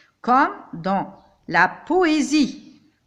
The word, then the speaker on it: poésie: Comme dans la poésie. S, je le prononce comme Z.